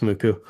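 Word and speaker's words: MUCC: Spelled M-U-C-C, it's pronounced Muku.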